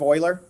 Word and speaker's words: Euler: name was Leonard Euler it looks like it would be Euler but it's Euler is how you pronounce that the letter e so